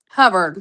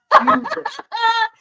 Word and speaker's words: Hubbard: Hubbard. Do you know? Hubbard. See, I Hubbard. knew I didn't say it wrong. See, where I'm from, people with that last name, it's Hoover.